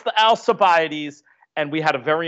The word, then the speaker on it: Alcibiades: Years ago, I called it the Alcibiades? Of course, it's the Alcibiades.